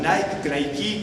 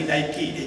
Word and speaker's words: Nike: con todo respeto, ay, Nike, qué sé yo, pero no, ni Nike ni Nike, es Nike, porque esa es la pronunciación griega.